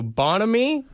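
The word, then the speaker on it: bonhomie: yeah yeah yeah uh so bonamy is what it is cheerful friendliness yeah I like I like pronouncing it Bon homie like you got a good friend yeah those are my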